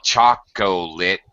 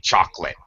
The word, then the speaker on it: chocolate: For example, native speakers don't say chocolate, we say chocolate.